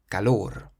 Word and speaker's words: calor: The next word means heat, and this one ends in an R, so we emphasize the last syllable, calor, calor.